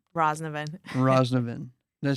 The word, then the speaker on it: Roznovan: Today I have Stella, and I'm worried about pronouncing the last name. Roznovan. Roznovan.